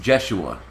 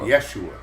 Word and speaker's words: Yeshua: Jeshua. No, Yeshua, with a Y. It wasn't pronounced Jeshua because J wasn't invented, so J you couldn't use.